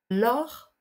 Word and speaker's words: lors: téléphone pendant qu'on conduit lors de attention à ne pas prononcer le S l'or 2 lors de est